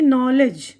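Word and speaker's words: knowledge: यहाँ पे देखिए नॉलेज, तो यहाँ पर पहला हुरूफ भी साइलेंट है और बीच में डी वो भी साइलेंट है, तो उसका मतलब है इल्म।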